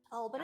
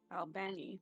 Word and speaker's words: Albany: how do you guys pronounce Albany. this? pronounce what? And Wait, then In, repeat that. D&D crew? I don't know what that is. Albany?